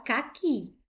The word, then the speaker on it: caqui: Por isso que eu não acentuo, por exemplo, a palavra caqui. Por que que eu não acentuo? Porque eu tenho aqui uma palavra oxítona. Caqui. Última sílaba foi a mais forte e ela é uma oxítona que terminou em i.